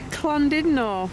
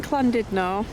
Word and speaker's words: Llandudno: on the road i'm back to klondino we know how to say it now um even though it's spelled landed no apparently the two l's sound like a sea um so back in